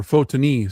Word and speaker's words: Photini: The holy martyr Fotini or Fotonyi, sorry, that's how it's pronounced.